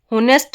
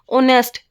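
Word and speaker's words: honest: अब ये देखना ऑनेस्ट है, होनेस्ट मत बोलने देना, ऑनेस्ट, एच जो है हमारा साइलेंट होगा इसके अंदर।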